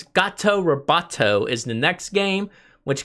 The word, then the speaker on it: Gato Roboto: alright so I gotta be careful how I pronounce this its gato Roboto is the next game which came out in